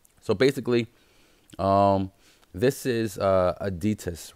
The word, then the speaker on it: Aditus: am correct on that so detests ism adidas like like the shoe brand adidas is a new ICO